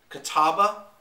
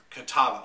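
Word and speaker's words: Catawba: to a website to to make sure I pronounce this right Kataba and Concord so Kataba yeah Niagara Kataba and Concord the three grips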